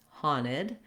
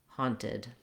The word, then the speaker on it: haunted: like a d but when we have nt together we either drop the t or we use a true t like at the start of words so trying it without the t haunted or with the t